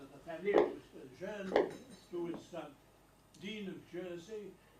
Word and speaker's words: Jeune: People ask me, what is your name? And I say, Jeune. And they look at me and they say, how do you spell that? And I say, Jeune. And they put down Jueune. And they say, your name is Dewey. Are you Mr. Jean?